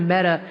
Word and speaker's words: Meta: the word meta is pronounced like the feminine form of the Hebrew word for dead.